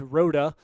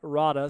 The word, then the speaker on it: Rhoda: calling us out that it is rhoda for the long o and not rada so we apologize for